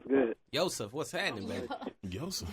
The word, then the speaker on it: Joseph: Yseph. Yseph. Yseph. The J is silent.